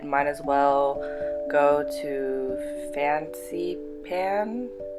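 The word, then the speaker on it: Fansipan: as well go to Fancy Pan. It looks like it's pronounced Fancy Pants, but I think it's Fancy Pan, Fancy Pan, something like that.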